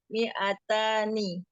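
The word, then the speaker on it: مئتان: 100 mi'atun, 200 mi'atani.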